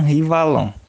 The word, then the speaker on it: Henri Wallon: o valor primeiro que a pronúncia é um rivalon né porque ele era o francês então por isso a gente não pronuncia Henrique é a rir e uma coisa para